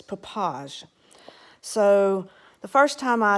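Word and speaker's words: Popo Agie: waterfalls and that papage looks like you would pronounce it popo aggie at least that's how you would pronounce it in the south but no it's papaj so the first time i attempted to well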